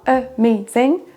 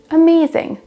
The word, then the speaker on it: amazing: Et pour amazing, on n'aura pas amazing, mais amazing. Amazing. C'est la deuxième syllabe qui ressort plus.